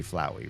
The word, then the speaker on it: Flowey: It should be Flowey, right? This rhymes with flower.